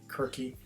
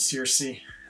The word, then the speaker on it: Circe: Kirke. I think I feel like most people pronounce it Circe.